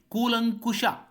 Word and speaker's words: ಕೂಲಂಕಶ: ತಪ್ಪಾಗಿರುವ ಪದವನ್ನು ಗುರುತಿಸಬೇಕಾಗಿದೆ ಬಿ ಕೂಲಂಕಶ ಈ ಪದ ಕೂಡ ಸರಿಯಾಗಿದೆ ಇಲ್ಲಿ ಯಾವುದೇ ಕಾಗುಣಿತ ದೋಷ ಇಲ್ಲ ನಾವು ಬಳಸುವಾಗ ಬಹಳ ಬಹಳಷ್ಟು ಮಂದಿ ಕೂಲಂಕುಶ ಅಂತ ಬಳಸುತ್ತಾರೆ ಅಲ್ಲ ಕೂಲಂಕಶ ಎನ್ನುವುದು ನಮಗೆ ನೆನಪಿರಬೇಕು ಕೂಲಂಕಶ ಇಲ್ಲಿ ಕೊಟ್ಟಿರುವ ರೂಪ